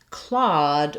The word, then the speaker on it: Claude: In the word Claude, we have the aw vowel.